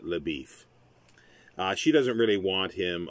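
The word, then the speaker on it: LaBoeuf: for beef uh but it's a french name laboof but he pronounces it labif she doesn't really want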